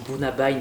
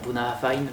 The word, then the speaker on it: Bunnahabhain: Alors je dis Bunnabein, il faudrait dire Bunnahabhain, mais je suis pas